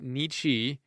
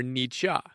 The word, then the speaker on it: Nietzsche: guy's name shall we you can pronounce it nichi or nicha i kind of prefer the latter sounds a little cooler don't you think all